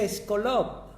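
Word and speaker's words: σκόλοψ: El diccionario expositivo Vine dice acerca de esta palabra aguijón, en el texto griego se pronuncia eskolop.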